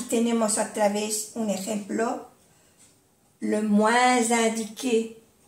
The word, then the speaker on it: moins indiqué: Le moins indiqué, que se hace la unión con la S y suena como una Z.